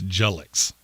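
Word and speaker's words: Jalyx: Colin Greene said it's Jullix. Oh, it's spelled Jalix.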